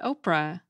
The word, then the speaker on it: Orpah: According to the American Name Society, Oprah Winfrey's actual first name is spelled O-R-P-H-A, Orpah, after the character in the Book of Ruth in the Bible, but her family always pronounced it Oprah.